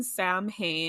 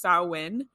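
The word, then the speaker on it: Samhain: modernday Halloween um sprouted from so it's written Sam hay and a lot of people pronounce it that way but it's a Celtic Festival so it's pronounced sawin like sa in there we go yeah okay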